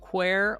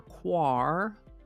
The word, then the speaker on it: quare: today's word is qu can be pronounced quer or quar Miriam Webster says quer